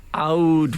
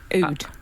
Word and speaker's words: oud: d oh okay um oud how is it oud yes cuz you're so poetry I thought you were saying o d e OD OD to W in the